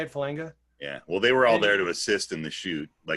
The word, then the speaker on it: Falanga: Falanga, yeah. Is that how you say it, Falanga?